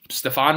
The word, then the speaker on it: Stevan: start, and you have Stevan Ridley. I don't even know how you pronounce his name anymore. It's been so long. It's just Steven. That's not how you normally spell that.